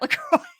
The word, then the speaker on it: LaCroix: mean I think she pronounced It the French Way La Croix oh look look how